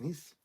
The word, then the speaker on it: Nice: Is it Nice? It's pronounced Nice.